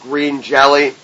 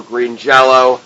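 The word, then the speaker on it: Green Jellÿ: and Mohawk place with green jelly or green jello however you want to pronounce it you can get ahold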